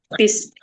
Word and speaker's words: bus: Bis. Bis. Bis apa? B ya. Yang betul ya. Tulisannya bus tapi bacanya bis. Oh bacanya bis ya.